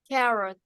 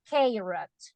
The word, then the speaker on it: carrot: a vowel sound but what happens if you have this word carrot carot it is not kot no no ah right so vowel a doesn't have only one sound it has two sounds sounds one is short